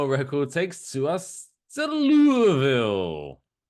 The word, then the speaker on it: Louisville: this week's Dumb Record takes to us to Louisville. Or Louisville, as it's spelled.